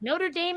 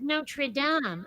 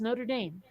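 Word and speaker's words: Notre-Dame: Dame and they're like Notre Dame is the football team in the college the the church was Notre Dame I'm like you it's Notre Dame we even have people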